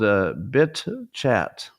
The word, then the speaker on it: BitChat: The name of it is BitChat. BITCHAT. It's also could be pronounced bitch at.